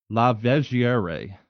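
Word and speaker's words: Lavigerie: Charles Lav, let me say it's French. He's one of my heroes, so I should be able to say his name like this. Lavier, St. Charles Lavier.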